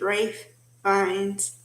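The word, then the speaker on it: Ralph Fiennes: with race fines although it's pronounced although it's spelled like around but it's Rafe Vines and Jennifer Lopez okay she's a hotel maid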